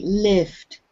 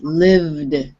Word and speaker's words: lived: okay now this one you said the v a little bit like an f so it sounded like lift it's lived live okay but much better